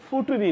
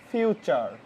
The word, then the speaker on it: future: এটার উচ্চারণ কিন্তু ফুটুরি না, FUTURE। তাহলে হয়ে গেল ফুটুরি। ফুটুরি না, এটার উচ্চারণ অবশ্যই হবে কি? ফিউচার। ফিউচার। এই টিউর উচ্চারণ হলো চর মতো।